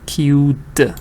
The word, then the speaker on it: queued: do I do it the reason is because it helps you learn the ed sound you understand that this is the D sound cute so teacher why because